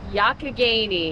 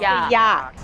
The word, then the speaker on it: Youghiogheny: I'm guessing Youghiogheny. How do you say the name of this river? Youghiogheny. Youghiogheny. Yeah, or just Yawk.